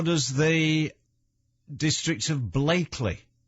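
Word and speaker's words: Blackley: away right but why is it spelt blackly pronounced blakely where does it come from and wally range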